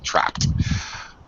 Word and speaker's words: trapped: uh hector trapped yep ed makes a t sound after the voiceless p trapped okay known as the